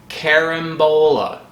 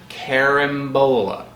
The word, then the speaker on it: carambola: I can say without a doubt, this is pronounced Carambola. Carambola.